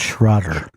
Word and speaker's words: Schrader: I think it's Paul Schrader. I think he did that movie. That's pronounced Schroeder.